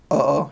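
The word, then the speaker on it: oo: to say it like casually, like to friends, uh-oh, just two O's. They pronounce all their A-E-I-O-N-U's over there.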